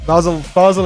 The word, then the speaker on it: Basel: Basel it is.